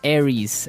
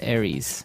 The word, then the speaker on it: Aries: Greek mythology that's right and uh so it's pronounced Aries Aries a r i e s Aries that's right and the other one is